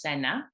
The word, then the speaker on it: Senna: So my name is Senna, pronounced Senna.